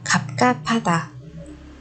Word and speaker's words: 갑갑하다: Cho nên 갑 và 하 chúng ta sẽ đọc thành 가 và 파 các bạn nhé. 갑 가 파다, 갑갑하다.